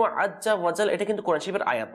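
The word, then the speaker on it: عزّ وجلّ: হবে ঠিক আছে না তখন আমরা কি করি দেখেন আজ্জা ওয়াজাল বলে ফেলি আজ্জা ওয়াজাল অর্থাৎ জিম উচ্চারণ করে ফেলি কিন্তু প্রথমটা কিন্তু যা দেখেন এটা কিন্তু আজ্জা ওয়াজাল এটা কিন্তু কোরআন শরীফের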